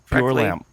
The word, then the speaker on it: Bjorlam: pronounced his name correctly. Bjorlam. Well, I watched tennis in the 70s. Bjorn Borg. So you Scroll learned down. the BJ. You learned BJ. You learned the European BJ early on when you grew